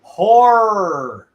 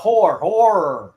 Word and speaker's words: horror: I think horror. Not horror. Horror. Yeah, there's two syllables there.